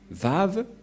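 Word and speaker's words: וו: Et donc, la prononciation du lettre Vav en hébreu, selon la prononciation de Abraham et Moshe, on le prononce V, mais pas W ou comme avec certains, c'est directement V.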